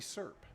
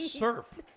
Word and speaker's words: syrup: wow with a whiskey syrup did you say syrup syrup i know we've had this discussion because he didn't even give it two syllables it was serp sir like s-u-r-p sir sir so god so from